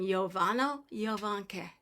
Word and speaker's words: Jovano Jovanke: The J's are always pronounced like a Y.